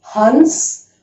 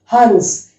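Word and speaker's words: हंस: But as of now, remember, this is Hans. Hans.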